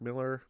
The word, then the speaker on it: Millar: is by mark milar yes i know it's pronounced mark miller but there's a lot of millers in comics so i'd say mark milar i purposely mispronounce it and this is sean